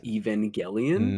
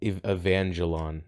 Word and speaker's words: Evangelion: anime called neon genesis evangelion no evangelion that you have to pronounce it properly right i'm sorry i'm